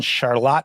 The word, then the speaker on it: Charlotte: Burlington and Northern Vermont a little bit different pronunciation than the North Carolina charlott yeah I'm not I think they're named after the same King George third's wife Queen Charlotte or Charlotte but for some reason we maintain the German pronunciation and so uh Adam